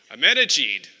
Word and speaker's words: Ahmadinejad: Ahmadinejad.